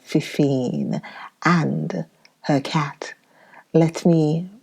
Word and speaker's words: Fefine: Yes, the name is Fifine. I pronounce that Fefine and her cat.